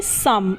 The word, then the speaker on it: some: तरीके से सम, SOME, सम, तो यहाँ पर भी ओ है, ओ के बाद एम है जो कि एक कॉन्सोनेंट है यानी कि व्यंजन है और उसके बाद ई है, तो यहाँ पर ओ का उच्चारण अ होगा।